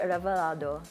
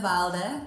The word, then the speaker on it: Ralde: coming on the show be revaldo revaldo I'm so sorry I butchered your last name thank you as well it's ralde thank you ralde sorry it wasn't on